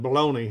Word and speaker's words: bologna: the south i mean it's spelled b-o-l-o-g-n-a but uh we call it baloney here you know with ie like that's just far slaying southern slang but uh matter of